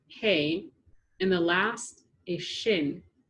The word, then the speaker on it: He: This side is pronounced Hey, and the last is Shin.